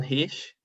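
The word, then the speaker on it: Hsieh: this on the book delivering happiness he don hish yeah i think that's how you pronounce his name he's saying yes by the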